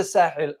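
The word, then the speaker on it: Sahel: So where is the Sahil and what is it? The Sah region or Sahil in Arabic and Sah in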